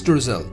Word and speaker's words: Streusel: Streusel, the pronunciation of this is Streusel, a crumbly topping for